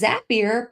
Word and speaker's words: Zapier: It is Zapier pronounced like happier.